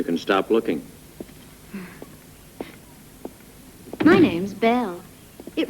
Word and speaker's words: Knell: looking for you can stop looking my name's belle it rhymes nail bell we don't know each other